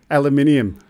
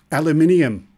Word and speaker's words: aluminium: Aluminium. Okay. There's no second I. You're going to need a second I to have inium. There's no inium in here.